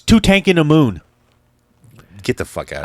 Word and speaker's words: Tutankhamun: It's King Tutankhamun, right? Tutankhamun. Yeah. Nope. Now it's Tutankhamun.